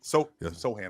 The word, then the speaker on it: Sochan: Castle, Vassell, Sochan, Fox, like these guys, we got to get Sohan. I'm sorry. So it's Jeremy Sohan. It's spelled Sochan. It's Sohan. I apologize. Sohan, That's his name.